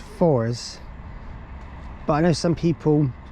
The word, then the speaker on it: Forres: um as far as I'm hello no it's pronounced fours but I know some people pronounce it forres but it's fours let's hope announce it looks very new it's